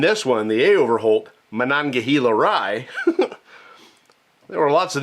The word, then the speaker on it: Monongahela: I've been saying Mahangahela because that's what I thought it was, but this is Monongahela.